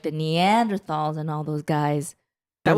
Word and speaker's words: Neanderthal: die phone x-ray so I thought like the Neanderthals and all those guys that was it not the beginning iPhone one I don't - mm-hmm and then now guess what we evolved from the Neanderthals you might have heard of human-like species called